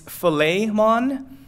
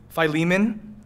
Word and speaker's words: Philemon: pronounce it correctly like according to how they're supposed to pronounce it in the Greek its filet Mon I just don't like